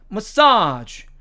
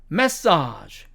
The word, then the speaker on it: massage: 세 번째 단어도 미국식 발음으로 가면 massage, massage 이렇게 되지만 영국식 발음으로 가면 massage, massage 이렇게 발음이 됩니다.